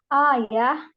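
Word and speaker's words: آية: nah seperti itu dan kemudian kata ayat a ya bacanya itu kan kalau kamar buta mati itu kan jadi ayah bukan Ayah bapak saya bukan Ayah yang berbeda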